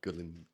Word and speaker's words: Gullane: And I was like, "Hello, okay, so it's Gullane, is it?"